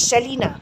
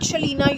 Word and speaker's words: Selina: Actually, you were telling me that you are not Shalina, you are Selina. The other way Shalina has been called out over here is Salina. No, Selina, not Shalina, right?